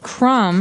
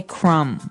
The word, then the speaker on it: crumb: everyone that the word crumb has a B on the end. C R U M B. But we don't pronounce the B. We just say crumb.